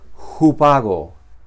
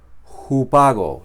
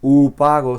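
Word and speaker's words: ὑπάγω: Ah, no la J fuerte como en eh como si decimos jamón, sino suave.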